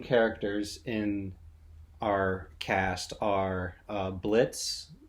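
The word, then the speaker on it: Blitzø: in our cast are Blitz the O is silent yeah who is uh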